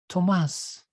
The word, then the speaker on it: Tomas: no h because yeah my name is from the spanish language it's actually pronounced tomas but i degrasse let's